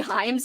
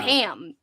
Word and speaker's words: Heim: another thing and then Katrina said Corey heim's name wrong isn't it Heim she said ham so she was the